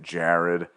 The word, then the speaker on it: Gerard: I don't know, I think he spells it Gerard, but he pronounces it Jared.